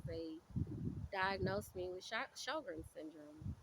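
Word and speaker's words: Sjögren: anti- autoimmune syndrome called a autoimmune disease called shoger and syndrome uh which is something very I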